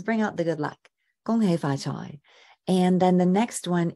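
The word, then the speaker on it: 恭喜發財: In Cantonese, the pronunciation is Gong, Gong Hei Fa Choi. So you're going 1, 2, 3, 4, right? The gong hei fa choi, right? And dropping down at the end for choi.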